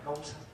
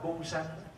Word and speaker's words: câu: Nhưng mà chữ cu với chữ câu nó giống nhau, nhưng mà mình thường mình phát âm thì mình phát âm cái chữ nghe cho nó nhẹ nhàng là câu sanh.